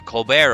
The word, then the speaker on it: Colbert: they're saying colbert isn't it says colbert but he pronounces it colbert because the man decided